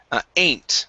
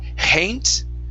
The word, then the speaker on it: ain't: Next up is the word ain't right here. So instead of hain't, okay, only pronounce the vowel. Remove the H.